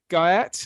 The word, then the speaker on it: Guyatt: Um and the last name is Guy. Like the guy at the porter's lodge.